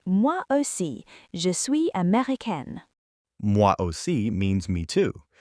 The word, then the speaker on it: américain: And notice again, américaine ends with an E because I am female. If you were saying it, Avery, you'd say je suis américain without the E sound at the end.